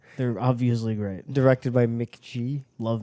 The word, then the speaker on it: McG: obviously great directed by Mick G love Mick G is that how it's pronounced mhm it's not McGee no it's MC G it's mck g i hate that he